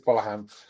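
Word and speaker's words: Gbolahan: I think the G is silent at the start, so I think it's Bolahan.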